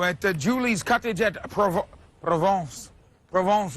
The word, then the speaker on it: Provence: Provence is how you say it.